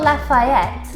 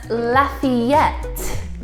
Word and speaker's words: Lafayette: next one for you it's not Lafayette but Lafayette oh that's a tough